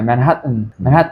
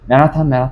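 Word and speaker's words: Manhattan: 그 강세가 맨 끝에 없으니까 네.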